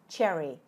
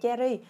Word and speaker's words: cherry: A quả này là quả cherry ik đọc lại với thử nha đừng đọc là Jerry Nói chung nó tiếng